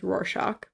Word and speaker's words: Rorschach: do have trouble pronouncing that word so correct pronunciation is Rorschach okay sometimes I Stumble so I would say Rorschach so don't don't beat yourself up about it